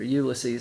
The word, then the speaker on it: Ulysses: I already read Finnegan's Wake, of course, but getting into Ulysses now, or Ulysses, that's how he pronounced it.